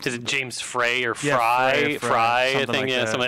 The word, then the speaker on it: Frey: Is it James Frey or Fry? Fry, I think. Like something. I think it's spelled Frey, Frey, but I think he pronounces it Fry.